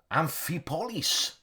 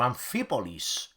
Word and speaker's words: Amphipolis: The first one, Command and Colors Ancients 612 Amphipolis, or Amphipolis. Depends where you put the accent on, which syllable.